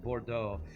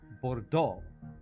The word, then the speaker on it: Bordeaux: So like you learn that E-A-U-X is O, Bordeaux.